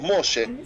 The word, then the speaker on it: Moshe: Si alguien quiere tutear a la persona, entonces le asentamos la primera sílaba. Y así transformamos ese nombre en mucho más amigable. Por ejemplo, si uno se llama Moshe y nosotros lo queremos llamar como un amigo, entonces le decimos Moshe.